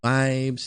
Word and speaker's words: ViAbeZ: today's episode three for track three the project vibes v-i-a-b-e-z uh i realized that i never talked